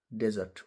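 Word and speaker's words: desert: त्यसैगरी अर्को शब्द छ डेजर्ट डेजर्ट यो भनेको मरुभुमि डी इ एस इ आर ट डेजर्ट मरुभुमि तर यसैलाई तपाईले फेरी डिजर्ट भनेर उच्चारण गर्नुभयो भने चाहिँ यो त्याग्नु छोडेर हिड्नु भन्ने बुझिन्छ।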